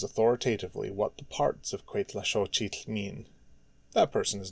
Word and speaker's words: Cuetlaxóchitl: There may be someone out there who knows authoritatively what the parts of Cuetlaxochitl mean.